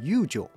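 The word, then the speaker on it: 遊女: 游廓的日文发音叫做 Yukaku，但是游女则要念成 Yujo。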